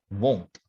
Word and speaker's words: won't: odd one out because will not is pronounced as won't it's not villain however the pronunciation of